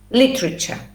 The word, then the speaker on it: literature: literature li tree cha literature okay the stress at the beginning literature yes so see